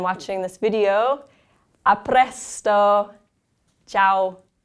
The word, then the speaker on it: ciao: Ciao. And if you notice, the I is slightly pronounced, and then the AO sounds like ow, ciao.